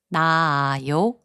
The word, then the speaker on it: 낳아요: 나아요, which means to lay, is pronounced as 나아요.